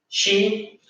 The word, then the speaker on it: she: She, que se pronuncia con la CH de la shala, ¿ya? Que le salga así, el shesheo, she, pero que cuando me